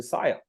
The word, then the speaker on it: Siyer: So I said, okay, I've got to change, and that's where Oh, Siyer came up, which uses my names, my yes. initials, and it rhymes with desire, with inspire, with fire.